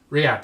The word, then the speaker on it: Riyadh: Well, it's like, I always pronounce this wrong. It's Riyadh is the capital.